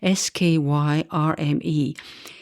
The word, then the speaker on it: Skyrme: His name is difficult to pronounce. It's Skyrme in 1961, a British physicist who was influenced by Lord Kelvin.